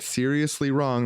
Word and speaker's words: Srsly Wrong: use the promo code seriously wrong that's spelled srsly they're going to send